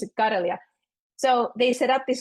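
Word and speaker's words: Karelia: is this my middle name is kelia we pronounce it Kia so they set up this North kelia project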